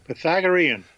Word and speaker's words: Pythagorean: Pythagorean.